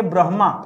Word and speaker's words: ब्रह्मा: चाहिए दोस्तों होना चाहिए ब्रह्मा क्या होना चाहिए आप समझिए ना आप बोल क्या रहे हैं आपको ब्र के बाद म का उच्चारण नहीं करना आपको ब्र के बाद ह का उच्चारण करना है तो आप बताइए क्या